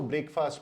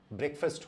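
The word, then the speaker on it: breakfast: अगर आपने इसको ब्रेकफास्ट बोला, जो मुझे लगता है कि सही प्रोनाउंसिएशन होना चाहिए, लेकिन वो सही नहीं है, क्योंकि इसका प्रोनाउंसिएशन ब्रेकफास्ट होता है।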